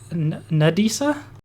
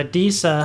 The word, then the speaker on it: Adisa: to ask this if Disa, is that just say her name was? Disa. Okay, yeah. Disa. Yeah. Nadisa? Disa. Disa? Like Adisa? A-D-I-S. Yeah, like Adidas without the second D. Okay, so Adisa.